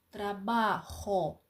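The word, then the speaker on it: trabajo: Отож коли я працюю трабахо Йо трабахо Ти працюєш ту трабахас ось оця J англійська Так вона в іспанській завжди читається як х трабахо Я працюю трабахас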